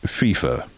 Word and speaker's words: FIFA: of international soccer's outfit FIFA uh Gary it's pronounced FIFA soccer breakdown in three two one FIFA soccer's